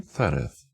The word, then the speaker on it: Zereth: And, you see, the name Zereth sounds pretty much like "cereza", which is the Spanish word for cherry.